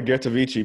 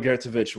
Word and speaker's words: Ghertovici: I almost called her Ghertovici, but she corrected me. She's Romanian, so she could tell you a little bit about how that pronunciation works out. But it's Ghertovici.